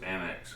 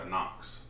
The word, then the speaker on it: Anax: I know, I used to pronounce it Anax. I think a lot of people did. I watched a Microtech video in this release, and it's the Microtech Anax.